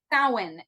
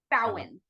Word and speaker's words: Samhain: The upcoming event is October 28th, the Samhain Symposium, and that's all about promoting diversity and change, just like this fabulous podcast. So you said that was the Silence Symposium? Samhain.